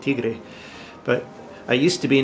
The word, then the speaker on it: Tiggre: Well, first, congratulations for pronouncing it Tigre, but I used to